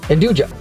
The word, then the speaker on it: nduja: Nduja.